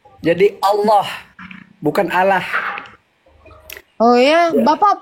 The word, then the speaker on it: Allah: Jadi kalau kalau kita Allah itu kalau dalam bahasa Al-Qur'annya salah baca. Hm. Iya. Jadi kalau kami orang ee Islam itu sebenarnya Allah bukan Allah. Hmm. Kalau secara teks teks dalam Al-Qur'an ya memang dia tulisannya Allah ya karena alif lam lam ha Allah. Nah, tapi kalau cara membacanya dia ee seolah-olah A itu ee bersuara O.